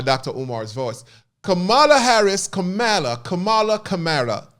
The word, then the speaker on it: Kamala: Omar's voice Cala Harris Kamala Kamala Cala somebody said I pronounced her wrong her name wrong it's all about dialect y'all Kamala CA Kamala Cala